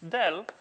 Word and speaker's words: del: So, this guy usually pronounced as del rather than as, pointed triangle going downwards or something like that.